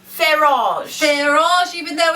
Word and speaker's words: Farage: friend Nigel Fage Fage we were told it's pronounced Fage Fage even though it's not spelled that way in America looks like it's far f a r farage farage that's how we say it here America